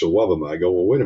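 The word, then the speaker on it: Iwebema: Iwubima was the pronunciation when he first came to town. Then his mama called me one day and said, it's Awabama.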